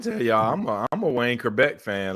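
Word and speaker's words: Chrebet: Wayne Kerbeck. Am I pronouncing his name?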